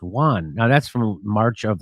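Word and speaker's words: yuan: in their own denomination I think it's like it's pronounced Juan now that's from March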